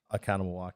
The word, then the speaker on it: Oconomowoc: Is that Oconomowoc? I don't even know how you say it, dude. Yeah. Oconomowoc.